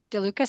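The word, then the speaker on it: DeLuca's: I think it's pronounced Delucas. Delucas is my wholesaler. Oh, yeah. Delucas, sorry, is my wholesaler.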